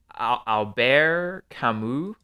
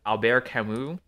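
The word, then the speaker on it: Albert Camus: say his name correctly cuz he's French uh Alber kamu spelled Albert CIS if you said it without a French accent Alber kamu he's this philosopher um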